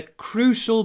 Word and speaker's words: crucial: When you say it, crew, you need to clip the oo before the sh, the unvoiced sh. Crew. Crucial.